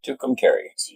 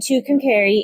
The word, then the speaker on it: Tucumcari: then we dropped into Tucumcari. Yes, which rhymes with Schoharie. Yes. Not Kari. No. Not Kari. So Tuesday was the day we went through 4 states. And Tucumcari is where we were